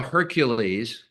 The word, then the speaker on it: Hercules: It's spelled Hercules, which is how we would pronounce it in English.